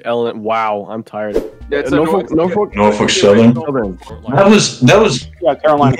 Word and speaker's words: Norfolk: Is it Norfolk? Is it Norfolk? Like what am Norfolk. I saying? Norfolk. Norfolk Southern. Norfolk. Norfolk. Norfolk. Norfolk. Norfolk. Yeah, the L is like it's weird. It's almost like half pronounced.